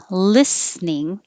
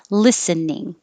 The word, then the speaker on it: listening: you can pronounce it either way with two syllables listening or three syllables listening it's the they're both